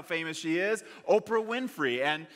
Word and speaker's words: Oprah: how famous she is Oprah Winfrey and she was originally named Orpah but people started pronouncing it Oprah Oprah Oprah and it